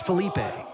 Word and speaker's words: Felipe: Also, his name is Felipe, or Philippe. Yes. So, Philippe Pox. That's why I always fall into the trap of calling him Fella Pox, because that's just the way phonetically I think the name should go.